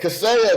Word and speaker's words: Kaseya: Send me the pronunciation. Kaseya. Send me a little voice. Yeah, Kaseya.